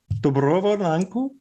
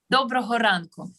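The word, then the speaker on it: Доброго ранку: Dobrovo ranku? Yeah. Hello, everyone. Dobroho. Dobrovo? Dobroho ranku.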